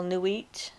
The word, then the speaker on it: Nuit: And this is a poem to what I would call Nuit, is sometimes pronounced other ways. It's spelled in her book Neit, but Nuit is the name that I know her by.